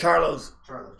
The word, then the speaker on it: Charlo: Richard Matthews says he thinks any one of the is it pronounced Carlo brothers? Charlo brothers would be Canelo.